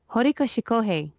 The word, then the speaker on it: Horikoshi Kohei: Horikoshi Kohei, that's his name, yeah.